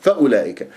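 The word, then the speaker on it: فأولئك: جيب جواز الوقف هنا فاولئك عندك الواو هذه فوق صفر المستدير تكتب ولا تلفظ اذا همزه مظلومه لام فاولا فاولا وليس فاولئك فانتبه عندك اجتمع حرف المد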